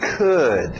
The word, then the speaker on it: could: verbo auxiliar can can't passado could é mesmo som de good could Ok could e couldn't